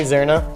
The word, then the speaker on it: Zirna: Am I saying it correctly? Zirna? You are.